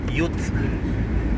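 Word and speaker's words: ute: Ayun yun muna y ang tawag sa pickup ay dito ay youth youth daw you ko yung pronunciation pero y yung pick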